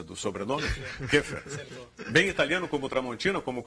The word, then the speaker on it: Keffer: Acertei a pronúncia do sobrenome? Keffer.